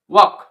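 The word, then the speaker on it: walk: এখানে কে উচ্চারণ হয় এখানে এল সাইলেন্স এর সঠিক উচ্চারণ কি হচ্ছে ওক নেক্সট এক্সাম্পলটি দেখি আমরা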